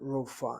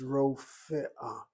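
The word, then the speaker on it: רופאה: But when people say rof, rof, they're closing that first syllable. Furthermore, they don't bother to sound the aleph. They say rofa. This is what I hear people say, rofa. The word is not rofa, it's rofe'ah, and it's not rofa'ah.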